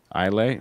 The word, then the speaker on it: Islay: I always call it Islay. You call it Islay? Yeah. Even with the S. That's how it's pronounced.